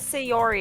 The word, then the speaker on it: Sayori: is sayori sayori say how would you say her name properly is it say Yuri sayori I thought it was sayori because it's o-r-y otherwise it's like otherwise it's Yuri and sayuri and that doesn't make sense yeah I might be